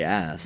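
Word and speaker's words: Aass: history of breweries there there's one that's that's spelled ass but you pronounce it o no I just say ass you say ass too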